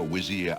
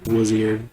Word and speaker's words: Vizier: text on screen, yeah, they do for some reason pronounce Wazir. Lord Al-Hazred, a visitor to see you. Prince Royal Alexander Vizier.